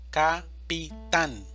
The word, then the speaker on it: capitán: Capitán, división silábica, capitán, sílaba tónica, tan, capitán.